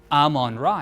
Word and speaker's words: Amun-Ra: So I always pronounced it Amun-Ra. Amun-Ra, yeah, But or Amun-Ra. Amun. Yeah, it's both really are correct depending on the pronunciation in hieroglyphics, actually.